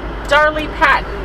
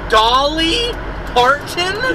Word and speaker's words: Dolly Parton: yes that's just like darling Patton I can never say her name darling Patton are you talking about Dolly Parton yes Dar D Dolly